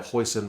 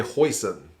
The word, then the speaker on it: Hussein: The New Zealand commentary team was calling him Hoyson, but apparently he tells people to say it Hoyson because that's the closest he can get in New Zealand to people saying it right.